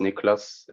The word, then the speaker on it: Nickolas: simple but uh it's it's pronounced nicholas in my accent you can say in my language sure but uh yeah